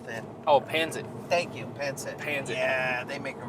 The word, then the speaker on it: pancit: Thank you, pancit.